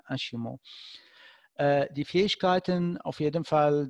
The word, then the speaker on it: ASIMO: Das steht für Mobilität von morgen, ja, Advanced Steps Innovative Mobility und das spricht man Ashimo auf Japanisch, also nicht Asimo, wie wir das jetzt lesen würden, sondern Ashimo.